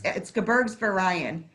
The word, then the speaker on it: Gebirgsverein: Yep, it's actually, it's Gebirgsverein.